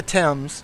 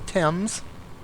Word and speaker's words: Thames: So this is the Thames right here, right?